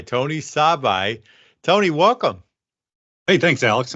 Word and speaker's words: Sabaj: And you pronounce that like the car, Saab with an I. Tony Sabaj.